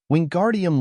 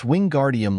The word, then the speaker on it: Wingardium: having much more luck wingardium leosa he shouted waving his long arms like a windmill you're saying it wrong Harry heard Hermione snap it's wingardium Leos make the guard nice and long you do it then